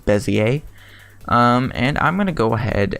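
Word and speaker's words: Bézier: go to bezzie a I call it Bezier just because it looks like what it sounds but correct prints pronunciation is Messier and I'm gonna go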